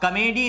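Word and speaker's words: comedy: ये क्या होता है, इसका सही प्रोनाउंसिएशन कॉमेडी, क्या बोलते हैं हम, कॉमेडी, यानी कॉ पे हमने जोर दिया और मेडी पर जोर नहीं दिया। एम्फसाइज हम कॉ पे कर रहे हैं, मेडी पे नहीं कर रहे हैं, क्योंकि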